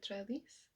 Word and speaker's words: Trelease: Just currently reading just is Enchanté by Gita Trellis. Don't know why, but I always pronounce it in French.